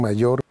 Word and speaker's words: mayor: mi hermano mayor, ¿Escuchas la fricción? Mayor. Si tú dices mayor con un sonido muy suave, esto te hace sonar más extranjero. Trata de pronunciar con un poco de fricción.